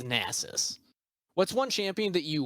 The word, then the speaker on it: Nasus: mispronounce it's like like there's champs like gnosis nieces i don't know basis i don't know how to say it like it's the correct way i believe it's nasus what's one champion that